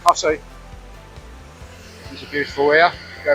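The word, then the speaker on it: Costessey: Cossey is Costasy, as it's name, spelling, but it's pronounced Cossey.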